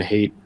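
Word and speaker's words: Haidt: say uh I think Jonathan hate or height I think I think it's actually pronounced height um talked about in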